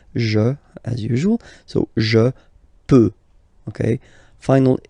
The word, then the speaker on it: peux: Then tu peux, same pronunciation and same spelling or writing, okay, P-E-U-X, okay, you don't pronounce the final X, tu peux, okay, je peux, tu peux.